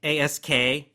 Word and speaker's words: ask: do we do it the first word ask askk most people can pronounce that fairly well but ask again you want to just get that little sound at the end make sure you get the K don't say s s